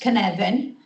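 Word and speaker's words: Cynefin: who don't know how to pronounce it it's pronounced Canan a Zoological examination into vulnerable children in Wales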